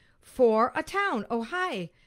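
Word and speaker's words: Ojai: of these oh pronounced oh hi oh what a great name for a town oh hi spelled o j a i but pronounced oh hi very nice hi everyone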